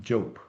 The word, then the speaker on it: Diop: Last name spelled Diop and pronounced Jope.